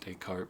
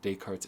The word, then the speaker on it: Descartes: book called decart's error spelled like Descartes like Descartes if you haven't seen the name dayart before can trip you up but day cart's error is a great